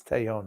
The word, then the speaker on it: Taillon: It's Taillon is how it's pronounced.